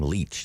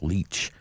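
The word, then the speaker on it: Lich: that uh tamara leach she pronounces her name leech that's one of the things we uh learned in the previous court appearance leech um bale denied for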